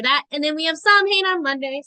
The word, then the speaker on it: Samhain: And then we have Samhain on Monday. So, I'm not Samhain, Samhain. Sometimes I do that. Sometimes I slip into that neo-paganism pronunciation. But Samhain we have on Monday.